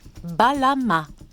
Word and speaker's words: Balam: Phonétiquement, le mot se prononce Balama.